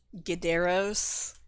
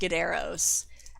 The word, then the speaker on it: Gideros: It's kind of like I used Gideros is how I pronounce it. I used this to write a lot of mobile games. It is not pronounced Gideros.